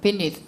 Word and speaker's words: beneath: beneath 할 때 그 번데기 발음이에요. beneath the bridge.